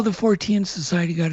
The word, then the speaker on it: Fortean: How do you pronounce it, Carl? Fortean. Fortean.